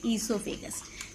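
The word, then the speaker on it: oesophagus: Yes, this is food pipe, also known as esophagus, where O is silent. We say esophagus.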